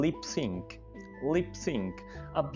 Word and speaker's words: lip sync: तो अब से जब भी आप ये वर्ड बोलें आपने इसको लिप सिंग नहीं बोलना, लिप सिंक बोलना है।